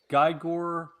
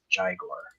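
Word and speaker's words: Gygor: and he pronounces it Jaguar. So G-Y-G-O-R. Interesting. All right. Yeah. Jaguar, folks. You heard it here. Jaguar. It's like Euro and Giro is like people pronounce Yeah.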